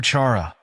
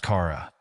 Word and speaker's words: Chara: my daughter's name correctly she calls her charara pronouncing a cha as in chaa my daughter's name is pronounced Cara meant to combine her father's name Chris with mine Sarah as I was explaining this